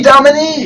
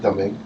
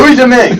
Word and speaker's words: Domingue: Louis Dominique. Isn't it Domingue? Domingue. I don't know why I'm saying Dominique. Domingue. He says Louis Dominique. Domingue. Yes, he's got me tainted. What? Louis Domingue.